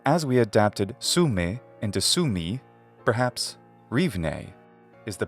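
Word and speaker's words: Sumy: for us places like sume we ought to say Su me but English doesn't end words with the vowel phoneme e so a more natural English rendition would be Sumi instead of sume now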